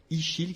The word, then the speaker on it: Ixil: question, la signification de votre nom, Ichil, qui s'écrit I-X-I-L, hein, oui, c'est ça?